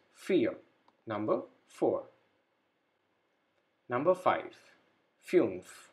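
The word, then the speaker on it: vier: have i e so i e is pronounced as e so we pronounce it like this fear number four number five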